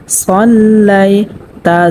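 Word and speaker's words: صَلَّيْتَ: অনেকেই কিন্তু এখানে পড়ে থাকেন সাল্লাইতা। সাল্লাইতা যদি পড়ে তাহলে শুদ্ধ হবে না, এখানে পড়তে হবে সল্লাইতা।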